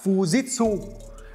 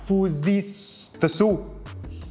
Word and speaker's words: Fujitsu: Mình thì hay đọc là Fujitsu.